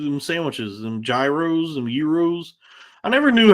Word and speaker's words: gyro: supposed to say because always felt like if I said euro, I was putting too much stank on it and trying too hard to like pronounce it correctly and maybe overcorrecting by saying euro. But I know there's no way it's gyro. Even though, like, phonetically, based on what I know about the English language, it would be gyro.